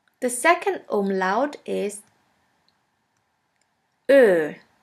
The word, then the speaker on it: Ö: The second umlaut is Ö, Ö, or O umlaut. Ö is pronounced like the word flirt or the word girl.